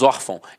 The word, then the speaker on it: órfão: schwahn marca de nasalização até porque se fosse uma Santo gráfico eu não falaria órfão eu falaria órfão e não é o caso nós falamos órfão então a sílaba tônica está na penúltima e é a acentuada